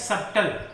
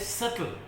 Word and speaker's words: subtle: इसको बोलने में लगता है subtle, SUBTLE, लेकिन subtle होता नहीं है। This is called subtle, SUBTLE। इसमें TLE जो है ना, T जो है साइलेंट है, that's why इट is spelled as सटल।